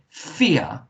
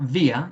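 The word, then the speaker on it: vier: german phonics should be a v makes a f sound so fear it's not via it's fear and um and when we've got the i in the e in german it makes the e sound which is the second vowel that we've got there we don't do the i one so f er fear okay what number is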